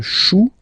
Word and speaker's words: chou: Then, un chou. Okay, remember, when you combine this C and H, you get the sound sh.